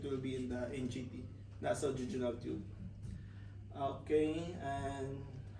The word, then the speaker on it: nasojejunal: So this topic, it will be in the NGT, nasojejunal tube. Okay, and how is the nasojejunal tube placed? Nasojejunal. That's the correct pronunciation.